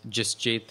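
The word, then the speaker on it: Jasjit: community who are here um my name is justjath um I'll spell it for you j-a-s-j-i-t last name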